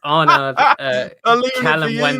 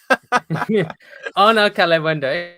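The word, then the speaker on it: Arnaud Kalimuendo: I appreciate you saying this guy because you're too afraid to pronounce his name. It's Arnaud Calem-Wendo, mate. Arnaud Calem-Wendo, and you're welcome to get his FB ref up.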